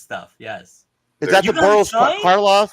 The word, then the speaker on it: Karloff: Is that the Boris Karloff?